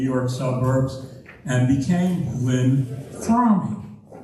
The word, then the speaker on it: Fromme: I'm Fromme. That's F-R-O-M-M-E, with the E pronounced at the end.